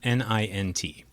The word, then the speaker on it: nint: Our study involved made-up words like this one, N-I-N-T. In this example, we assigned an exception pronunciation. Instead of being pronounced like its neighbors lint or mint, N-I-N-T was pronounced like pint, so this exception was pronounced nint.